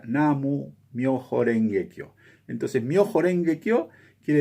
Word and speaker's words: Namu Myoho Renge Kyo: Lien Hua Chin, él, al leerse en japonés esos mismos caracteres, se pronuncia Namu Myoho Renge Kyo.